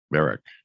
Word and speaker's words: Berekk: And Berekk, did I say it right?